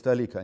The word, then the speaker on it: толика: посла это одна маленькая толика как правильно говорить кстати на грамоте роу правильно говорите толика не только ваших предсказаний